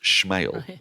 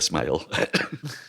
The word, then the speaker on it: Smale: She told us that it was pronounced Schmale, as if Sean Connery was doing it. Sophia Schmale. Turns out it isn't actually. It's just the way it's spelt. Sophia Smale.